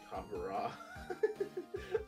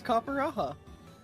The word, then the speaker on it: Copperajah: Copperah. I love people mispronouncing Pokemon names. It's Copperajah.